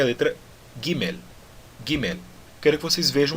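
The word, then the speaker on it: גימל: Por exemplo, quando eu falo papel e não papel, tá certo? No hebraico é diferente. Eu digo Gimel e pronuncio esse L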